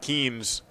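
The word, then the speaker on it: Keehn: years at keene state pronounced the same way as his surname but spelled differently he's k-e-e-h-n keem state is k-e-e-n-e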